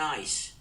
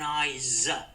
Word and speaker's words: eyes: I say one I it's not one ice it's one eyes it's pronounced with a zed so I'm looking at